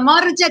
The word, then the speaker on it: Morgia: Pronounce it for me. Say it, Isabella. Isabella Morgia di Vicari and Jeffrey Morgia.